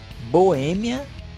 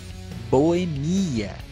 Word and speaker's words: boêmia: Algumas delas são acróbata ou acrobata, xerox ou xerox, réptil ou repetiu, zangão ou zangão, projétil ou projetil, boêmia ou boemia.